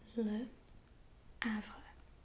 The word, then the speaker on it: Le Havre: actually speak French, but I believe it is pronounced as Le Havre.